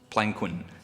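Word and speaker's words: palanquin: Carriage must be otherwise there was Peloquin pronounced plainquin going from this house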